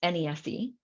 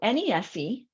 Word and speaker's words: NESE: Okay, so net earnings from self-employment, which we pronounce it by its acronym, NESE. So NESE is a person's self-employed earnings.